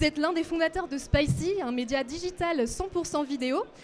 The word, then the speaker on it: Spicee: Alors, sur Spicy, donc qui s'écrit S-P-I-C-E-E, on trouve essentiellement du